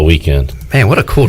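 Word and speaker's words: Weeknd: thinking about and the weekend's name is pronounced weekend but it is spelled without the e yeah the k n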